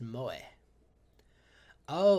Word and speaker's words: moe: who possess such traits pronounced moe oh like moemon what else we got